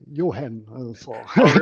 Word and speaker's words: Johan: not easy okay excellent it's very easy Johan yeah okay for Dr I mean it's not hard to Johan is easy but yeah I just want to make sure that that's pronounced now I'm in Denmark and all say Yan okay so does ver